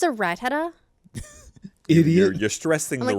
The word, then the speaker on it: Rattata: I'll say like Rattata, because for me it's like a rat-a-tat-tat sort of thing, Yeah. and someone's like, "It's a Rattata."